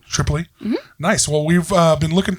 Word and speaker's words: Tripoli: do you say your last name Triple E Tripoli nice well we've been looking to have uh